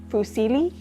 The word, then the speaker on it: fusilli: up, I think the technical Italian term is fusilli. Fusilli, F-U-S-I-L-L-I. Hopefully I'm pronouncing that right.